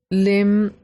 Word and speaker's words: limb: B is not pronounced in limb B is not pronounced again similarly we have